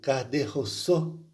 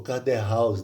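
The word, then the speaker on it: Caderousse: E o terceiro era uma espécie de barbeiro, o Caderrousse, ou Caderhaus, dependendo da escrita da pronúncia. É uma pronúncia bastante difícil.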